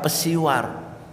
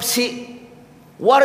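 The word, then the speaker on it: psywar: jauh pasti bilangnya apa pesiwar yang benar nyebutnya PSI dibacanya si seperti psikologi dibacanya Psikologi psiwar itu dibacanya siw siw si itu artinya jiwa si War itu artinya perang perang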